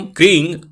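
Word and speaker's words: क्रीं: महाकाली के बीज मंत्र को कंग और क्रीम दोनों ही रूपों में बोला जाता है। यहां पर कंग का उच्चारण करना है। कृ और ग उच्चारण यह होगा। इसलिए ब्रैकेट में भी लिखित रूप में दे रहा हूं। मूल अनुस्वार के साथ ही लगता है। परंतु जब इसका उच्चारण करें तो ग के रूप में कीजिएगा। क्रीम नहीं बोलना है। कंग बोलना है।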